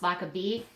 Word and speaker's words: Lochabay: So I have those, obviously, just because my last name is pronounced Lochabay. So, like bees.